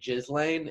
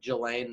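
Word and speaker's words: Ghislaine: which like I know how you're supposed to say her name, but I do. Speaking of Jizz, I do like to say Jizzlane instead of Jelaine Maxwell.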